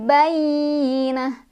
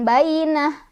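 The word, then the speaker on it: بَيِّنَة: hatta ta'tiyahumul bayyinah. Ya-nya ditekan, ada tasydid. Bayyi, bukan bayinah, tapi bayyi. Bayyinah. Di sini tak marbutoh, kalau berhenti jadi sukun dan berubah dia jadi hak gede ya, bayyinah, bukan bayyinat.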